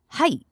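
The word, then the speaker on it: はい: Yes is height.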